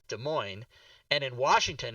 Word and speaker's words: Des Moines: second word MOINES, and in Ohio, it is in Iowa, it's pronounced Des Moines, and in Washington, it's pronounced Des Moines.